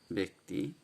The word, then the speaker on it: ব্যক্তি: ব্যক্তি, এর উচ্চারণ হচ্ছে এ দিয়ে, ব্যক্তি।